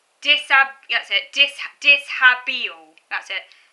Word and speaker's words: dishabille: That's it, dishabille. That's it. It's pronounced dishabille.